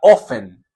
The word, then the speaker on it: often: dice es ofen o often se escribe often se pronuncia ofen se pronuncia sin la t how's it going How